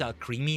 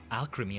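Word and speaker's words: Alcremie: I don't think it's al creamy. Like cream, you know. No, alcrim. I think it's meant to be.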